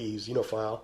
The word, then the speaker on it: XXXenophile: And then a little later during the Smut Glut, he was doing Xenophile, which is spelled XXXENOPHILE, Xenophile, right, which is an X-rated comic sex with aliens type thing.